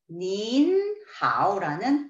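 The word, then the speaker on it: 您好: 라고 표현을 하시고 싶으시다면 앞에 나와 있는 니의 그 존경하는 마음을 넣어서 닌하오라는 표현을 해주십니다.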